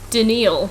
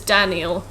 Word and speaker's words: Daniel: but i don't know they call me denial but it's daniel oh yeah i guess